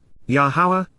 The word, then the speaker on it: Yahowah: but one acceptable approach answer his mcra invitations yahawah yahawah the proper pronunciation of yahwah our eloa God has directed